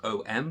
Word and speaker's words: Om: The most basic mantra is the Buddhist mantra Om, which is spelt O-M but pronounced Om.